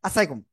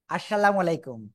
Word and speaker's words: আসসালামু আলাইকুম: শিখবো খুব সুন্দর করে আসসালামু আলাইকুম আসসালামু আলাইকুম এরকম দেওয়া যাবে না আসসালাইকুম এরকম দেওয়া যাবে না ঠিক আছে সালামটা কেমন দিতে হবে আসসালামু আলাইকুম এরকম এরকম দেওয়া যাবে না কেমন দেব।